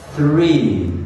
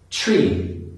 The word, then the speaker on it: three: "three" as "tree" or "free", but these are totally different words. So, to pronounce the unvoiced TH sound it's a similar principle, you put your tongue between your teeth, but you blow air out - th, th, th.